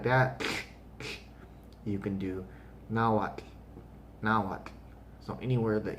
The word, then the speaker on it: Nahuatl: but practice it because some people are get lazy and they just say not with just a solid t at the end and not pronouncing that tl the spanish didn't have that sound in their language so they utilized two of their letters to represent that t and the l but you have to start looking at that as not two separate sounds it's just one in and now what it's one sound so um the first